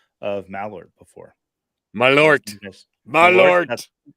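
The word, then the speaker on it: Malört: Malort. There's a long O over the O.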